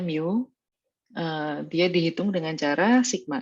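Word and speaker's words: μ: Ini bacanya mu.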